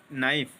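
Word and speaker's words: knife: क्या होगी तो बिल्कुल चाकू हम बोलेंगे नाइट लेकिन उसमें एक होता है साइलेंट वर्ड होता है सामने के लगता है ना तो उसमें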